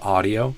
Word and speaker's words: audio: Kind of did instead of ah in the first syllable of audio.